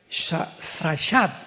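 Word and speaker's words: שחת: Esta palabra corromper es la palabra hebrea shashat, shashat con S de Samuel y CH, shashat, shashat se pronuncia, que significa corrupción moral.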